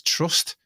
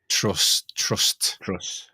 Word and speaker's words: Truss: a name of Liz Truss. The irony in her name is I don't think there's a T on the end. It's just Truss, isn't it? Trust.